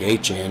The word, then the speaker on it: Etienne: He told us that everyone's been pronouncing his name wrong. It's like Achan or something, which is weird.